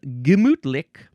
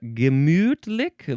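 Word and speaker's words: gemütlich: This word is gimmutic. Um, gimmutick. There's a couple of ways to pronounce that middle syllable.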